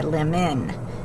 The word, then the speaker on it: lemon: it's long, but not So is the schwa in this one because it sounds like a short U, or depending on how you say it, it could sound like a short I, lemon.